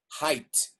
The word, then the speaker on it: height: As in the adjective high is also pronounced height, even though it's written with an E and an I, height, not age. But then again, I guess that would mean kids like Shirat Gupta would still be in the first grade.